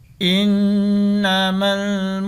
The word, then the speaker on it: innama: Di sini ini bacanya innama, ini karena ada tasdid, alifnya masuk ke huruf nun. Innama Jadi ditekan 2 ketukan karena ini bacaan gunnah.